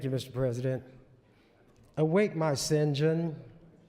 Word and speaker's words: St. John: president awake my Sinjin that's the way Alexander Pope in his day pronounced what we was called st.